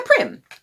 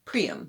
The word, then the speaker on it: Prym: And a Prym. Some of you said it's pronounced Prym. I thought it was Prym, but all right, Prym.